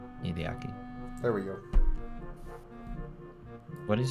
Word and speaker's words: Hideaki: Hideaki.